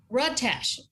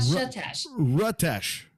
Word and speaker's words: Rutesh: It's Rutesh. Rutesh, not Satesh.